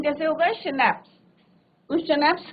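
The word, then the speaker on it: Schnapps: Right, जो alcohol है, drinks है, शनैप्स, इसका प्रोनाउंसिएशन कैसे होगा, शनैप्स।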